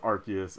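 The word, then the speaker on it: Arceus: and there's always that big debate over archus versus arus for the record it's archus okay that's been like the universal thing over to Pokemon world is that it's archus it's not arus so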